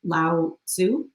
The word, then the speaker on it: Lao Tzu: And that's from, and help me pronounce his name, the beautiful Buddhist monk Lao Tzu. Lao Lao Tzu.